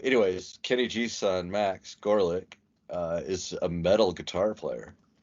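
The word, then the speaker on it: Gorelick: Gorlick. That's a cool band name. Yeah, and it's literally spelled phonetically. It's G-O-R-E.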